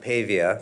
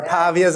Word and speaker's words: Pavia: My name is Pavia. At least that's how my part of the family pronounces it, but there are pavas out there.